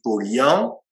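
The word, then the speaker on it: Paulhan: Ensuite, il fait référence, ça s'écrit Pollan, mais paraît-il on dit Pollian, qui était un écrivain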